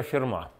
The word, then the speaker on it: Ферма: живое пиво имени Пьера ферма даже с ударением даже с ударением Чтобы не подумали что это ферма какая-то там например да Видите прямо